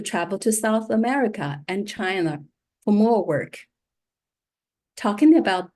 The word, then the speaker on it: Qi: Some of you know Emily's first as Chi Wang. Emily's original first name is Chi. She changed it into Emily just because it was difficult for her patients to figure out how to pronounce QI.